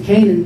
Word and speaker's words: Kanin: so I kept Kanin, but I pronounced it Kanin because I wanted to remember that when I came up with Martyr, I was researching Cain and Abel. If you say Cain and Abel, Canaan.